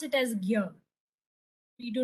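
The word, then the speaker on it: ज्ञ: So because if you see also it's the combination of g and r here, but still we pronounce it as gyr.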